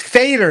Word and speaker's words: Feder: And is it Fetter? Am I pronouncing that right? I don't even know. No, it's Fader. It's the long Fader. A sound in German.